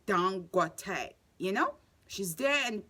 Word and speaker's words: Dangote: It's not Dan. It's Dangote, you know.